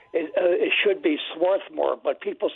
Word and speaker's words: Swarthmore: be correct there there there's an R there it it should be Swarthmore but people say swathmore all right we got